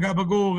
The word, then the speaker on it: capicola: And it's spelled capicola, but of course everyone, gabagool, gabagool, gabagool.